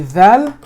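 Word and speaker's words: ذال: But when you're saying the dhal, the tip does not bend down. The tip stays where it's supposed to be. It comes out. It comes out. Dhal. And you actually touch the bottom of your molar.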